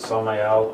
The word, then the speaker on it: Samael: If you're curious what the name means, it's Hebrew in origin, and that's how you pronounce it, Samael on Veor.